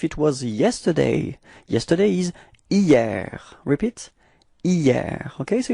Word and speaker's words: hier: Okay, so it's quite funny because actually it does start with a H, but then in French we don't pronounce H, so we've got the sound hier, hier.